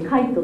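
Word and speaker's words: 凧: てありますね御徒町タコと書いてカイトと読むそうです徒町カイトさん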